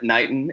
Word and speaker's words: Knighton: we have on today his name is Britt Nitin and there's a girl is that your last name is that how you pronounce yeah perfect Nitin Nitin it's very English English Brit & Nitin